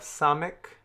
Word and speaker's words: samek: Next, we have samek. Samek has an S sound, as in the word sit.